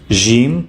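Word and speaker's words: ج: This is Jim, pronounced like the letter J in George and in J and the J in jar.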